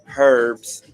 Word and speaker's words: herb: to say the word the H is silent it's just the breath of it or see that herb